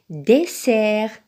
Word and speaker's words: dessert: Seulement ici, il y a deux S. Très bien, donc il se prononce dessert. Dessert. Il y a deux E, mais il y a également deux S. Donc, dessert. Donc, ici, le S se prononce S. Donc, on le met dans la colonne de la lettre S.